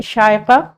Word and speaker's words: Shaiqua: सर, इट is pronounced as शायका एंड it means passionate.